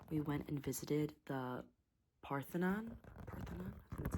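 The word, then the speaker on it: Parthenon: So, the first thing that we did was in um Nashville, we went and visited the Parthonon. That's how you pronounce it.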